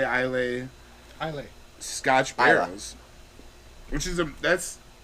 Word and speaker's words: Islay: Yeah, I think the Y is silent.